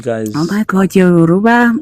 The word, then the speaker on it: Yoruba: Oh my God, you're Yoruba. Yoruba. See, I wouldn't say it like that, but close enough. Yeah, our R's are very rolled.